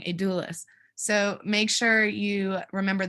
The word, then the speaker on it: Adulis: I always say it wrong, Adulis.